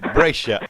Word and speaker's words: Brescia: I don't know how you pronounce it there. Brescia. Brescia. Yes. Yeah, I got it right first time.